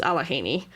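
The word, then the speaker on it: Allegheny: Um, but yes, no, if you're from Pennsylvania, you know it's pronounced Alahhaney.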